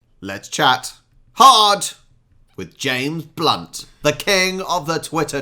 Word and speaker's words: Blount: own jokes oh really it's pronounced blunt whichever way you spell it anyone in the know